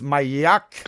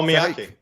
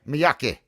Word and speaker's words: Miyake: However, something close to what he's talking about is this, I don't know how you pronounce this, Mayak. Solar proton. Mayak. Oh, Miyake. Yeah, Miyake.